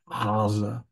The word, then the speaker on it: Gaza: but there is no, it's not a gimel, it's an ayin, it's Gaza, Gaza. But we don't pronounce it like that.